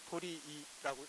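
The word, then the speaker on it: 鳥居: 새 조자에 응? 그 다음에 거주하다 할 때 거자 있죠? 그래서 도리이라고 읽어요.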